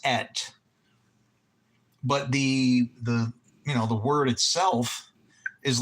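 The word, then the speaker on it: את: And the word itself is et, or it's pronounced et.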